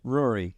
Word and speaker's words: Ruairi: with Rory Rory right how how do you pronounce her name Rory Rory you nailed it what brought you to